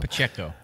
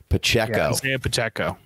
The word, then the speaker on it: Pacheco: how do you give me give me the pronunciation again i always screw it up pacheco pacheco all right well we appreciate you joining the